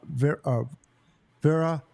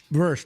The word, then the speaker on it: Verse: The two guys that are on there from Florida State Seminoles, which I love, number 55, Fisk, and then Vera. I always say his name wrong. Verse, thank you.